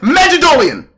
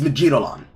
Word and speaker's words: Magalon: rapid fire magic boosted magolan actually I'm Mis I I'm mispronouncing it actually it's magalon it's actually magalon there is no oon until the additional suffix God forbid it be